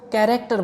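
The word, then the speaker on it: character: जैसे कि कुछ एग्जाम्पल है, कैरेक्टर, इस वर्ड में A से पहले H आया है तो यहाँ पर H साइलेंट है, इसलिए हम इसको कैरेक्टर बोलेंगे।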